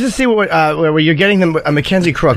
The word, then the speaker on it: Mackenzie Crook: Mackenzie Crook, right?